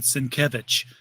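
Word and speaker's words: Sienkiewicz: and somebody says you know how do you pronounce your last name and he said senkevich everyone's always asking Bill Sim kevich how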